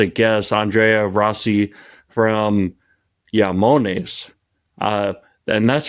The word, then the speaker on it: IAMONES: the pronunciation how close did I get it yamon you're perfect and um yeah say it yonis or yamon you can that's the right pronunciation okay so how what are all the